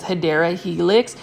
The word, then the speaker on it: Hedera helix: the correct way to say it obviously is Hedera helix, which is an English ivy. So for those that are viewing my um my channel for the first time for my videos, I always talk about Hedera helix.